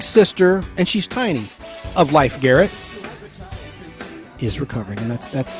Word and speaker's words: Leif Garrett: leaf Garrett Leif Garrett life Garrett I'm sorry I've always been the fans get pissed at me life Garrett l-e-i-f is how it looks on paper but it's life pronounced life Garrett she's life Garrett's sister